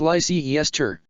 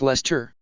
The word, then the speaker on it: Leicester: underwear ha sorry but it's not pronounced lyce Esther sir ignet said it's more like Lester you fog laners have